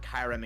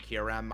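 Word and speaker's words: Kyurem: There is half a billion pronunciations for it. It's the same way I'm with Kyrem and Kirem.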